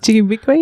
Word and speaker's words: Ji-gaabiikwe: Ji-gaabiikwe, yeah.